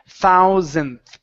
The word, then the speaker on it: thousand: this might help you instead of pronouncing an a saying Zan Zan it's so th Z with a short I sound try that Z okay and then the th Zin th thousand okay that's a that's a